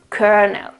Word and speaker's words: kernel: So cur and schwa l, kernel, kernel. Also in this case, this here is it's not an a, okay, it's a schwa, okay, kernel, okay.